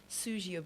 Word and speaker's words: Suzgo: wanted to find out, am I pronouncing it correctly, your name by saying it is Suzio? because I know the spelling is s u z g o. I'm quite impressed. It is it is pronounced correctly.